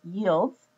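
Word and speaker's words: →: And again, the arrow is pronounced yields, yield as in makes.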